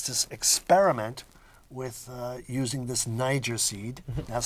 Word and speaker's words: Nyjer: niger and it is by the way grown in